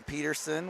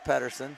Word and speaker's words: Patterson: Patterson the white jade staff has really struggled with that D in his last name Logan called him Peterson we called him Peterson on Twitter a couple times pretty sure we know how to pronounce that name but it is Patterson Nate Patterson number 55